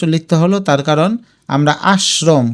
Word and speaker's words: আশ্রম: আর এটা উচ্চারণ করতে গিয়ে দেখবে আস্রম আশ্রম হয়ে যাবে।